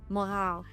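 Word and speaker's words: Mogau: Mau.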